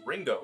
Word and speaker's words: Ringo: I'm like, bitch, my name is Ringo. It's two syllables.